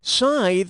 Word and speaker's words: scythe: leafy tithe or wrathki Scythe rhymes with tithe but I'd still like